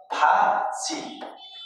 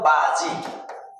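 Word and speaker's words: 바지: जस्तै ब शब्दको सुरुमा आउदा फ उच्चारण जस्तै फाजीत यो के त बाजी बाजी अब यहाँ के भजी यो बाजी भन्ने उच्चारण नगरेर यसलाई चा चै के गर्नु पर्यो फाजी है फाजी भनेको पाइन्ट फाजी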